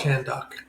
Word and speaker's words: Kahndaq: dude, the way it's spelled is really strange. Kahnddaq. No, I'm good. I'm good. Kahndaq. Yeah. So Kahndaq, Kahndaq. Kahndaq. You guys say like Khan. Yeah. Kahn.